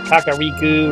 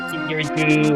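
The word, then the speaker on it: Kakariko: I don't think there's actually a correct pronunciation on how to pronounce the village. Every Zelda fan says it's either Kakariku or Kikiriku or Keikeriku.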